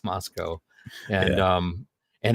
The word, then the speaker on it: Moscow: things was like uh oh okay it's not pronounced Moscow it's Moscow and um and it's it didn't happen over